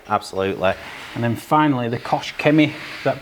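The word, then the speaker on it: Koch-Chemie: you yeah yeah absolutely and then finally the Kos Kimi is that pronounced right yeah Kosh Ki pstar pstar so the M fact it's a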